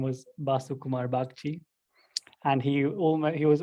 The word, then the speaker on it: Basu Kumar Bagchi: his name is i'm i'm probably going to butcher the name it's like basu kumar bhakti did i say that well priyank yep nice